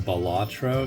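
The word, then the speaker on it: Balatro: guys I've been playing this computer game called batro it's spelled b a l a t r oh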